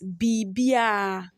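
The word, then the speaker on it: biribiara: here is biribira biribira in true pronunciation we pronounce it as bibia bibia as I said over just slide over the r b b that's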